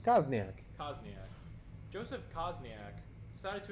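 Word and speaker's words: Kozenczak: Where It's is spelled correctly, even though it's Kosniak.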